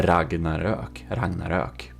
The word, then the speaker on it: Ragnarök: YouTubers, aka Swedish one, who has the proper pronunciation of the name of this ship, because the original builder, Robas of the Ragnarök, he is Swedish, and it's called the Ragnarök.